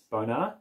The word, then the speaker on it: Bonar: The pronunciation is Bonar.